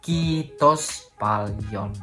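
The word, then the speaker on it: kiitos paljon: valion kitok siapa Lion itu ada penekanan pada double Iya udah beliin pokoknya apapun yang udah lechter itu harus diucapkan dengan panjang kitos falchion atau kitok siapa Nyon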